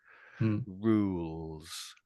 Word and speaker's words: rules: For for the L in the middle, I'm touching the roof of my mouth for that.